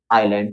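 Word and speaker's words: island: ठीक है, तो जो एस है हमारा वो आई और एल के बीच में है। जब इसको पढ़ेंगे क्या पढ़ेंगे अपन, आइलैंड। क्या पढ़ते हैं अपन इसको, आइलैंड। वहां पे एस का साउंड नहीं आता है, एस का उच्चारण वहां पर नहीं होता है।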